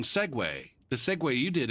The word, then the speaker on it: Segway: the this one looks like segu but it's really segue that's why they respelled it so that people would pronounce it right when they ordered the